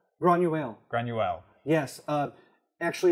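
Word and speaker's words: Granuaile: associate with, and I don't know how to pronounce her name, but Granuel? Granuel.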